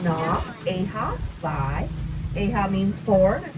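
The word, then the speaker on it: Nā Wai ʻEhā: In Hawaiian, it's pronounced Na, Eha, Vai.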